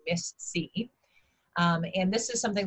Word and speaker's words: MIS-C: we go okay okay so we're talking about miss c as it's as it's pronounced right um correct so what what is